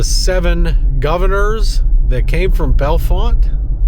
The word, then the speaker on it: Bellefonte: governors that came from Belfont. By the way, that's how it's spelled and that's that's how it's said. Belfont, not Bellonte or Bellonte or anything like that. It's Belfont.